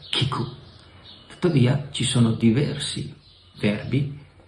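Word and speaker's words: 聞く: In giapponese il verbo ascoltare, sentire, si pronuncia kiku.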